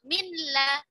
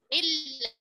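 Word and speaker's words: مِن لَّ: Jadi tidak minla tapi milla.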